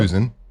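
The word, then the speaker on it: Husan: I've heard Hussein. I don't know. Google is saying, kind of like you said, you do pronounce it like Susan. So there you go. Susan.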